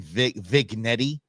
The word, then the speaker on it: vignette: I'll give you one vignette. That's what I thought it was, but apparently it's pronounced vignette. I don't speak French, but vignette is what it is, and this is what we play.